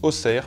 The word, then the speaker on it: Auxerre: monde le sait localement on les prononce osser Bruxelles chamoni mes g armé et